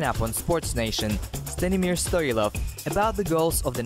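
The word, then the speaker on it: Стоилов: In Bulgarian language, it is Stoilov. I'm not offended. If it is easier for people to pronounce the way they do, I'm fine with it. But Stoilov is the right pronunciation. Yes, Stoilov is correct.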